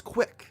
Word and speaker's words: CWC: of due to its ability to be pronounced as quick this webpage would only